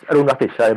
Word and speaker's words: Arunrugstichai: So hailing from Bangkok, Thailand, is Arunrugstichai. Did I pronounce that right? No, it's Arunrugstichai, but hardly anybody pronounced it right.